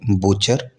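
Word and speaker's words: butcher: टी का role बहुत बड़ा प्ले होता है, जैसे कि बूचर, बूचर में टी साइलेंट है।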